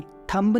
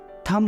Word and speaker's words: thumb: THUMB, थंब नहीं होता है, वो थम होता है, थम।